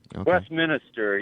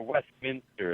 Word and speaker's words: Westminster: you still in Westminster oh you're in Denver Westminister yeah it's uh or Westminster as it's pronounced right the uh brother forecast said that